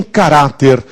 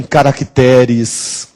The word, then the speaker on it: caráter: isto mesmo cuidado hein tem gente dizendo que este é o caracter a já Ouviram isso o caracter minúscula não existe essa palavra caracter o que existe é